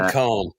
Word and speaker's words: comb: words, and you're like, what do you mean comb? Comb? Where the fuck's the B? Ain't no fucking B in comb.